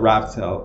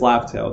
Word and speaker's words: Laugh Tale: I almost said Raft Tale. It's Laugh Tale, that's how you pronounce it.